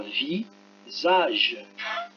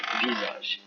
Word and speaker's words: visage: V-I-S-A, I et A, ce sont deux voyelles, donc ça fera le son Z. Ça fera visage, hein, visage.